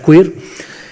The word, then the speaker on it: queer: Queer, Q-U-E-R, se pronuncia queer.